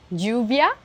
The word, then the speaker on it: lluvia: En Amérique latine, on a beaucoup tendance à prononcer le double L de la même façon que l'on prononce le Y ou la Y. On peut le retrouver dans des mots comme lluvia, qui veut dire